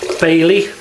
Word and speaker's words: Baili: nice okay we'll heat the barley bailey pronounced for us that would be bailey b a i l i so um first pass